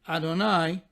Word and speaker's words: Adonai: the Tetragrammaton, as Yud-Heh Vav-Heh, or as we pronounce it, Adonai.